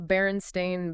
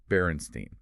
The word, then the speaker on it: Berenstain: do you spell that b e r n s t i n baren stain but a lot of people remember it as b e r n s t e i n barenstein right and apparently there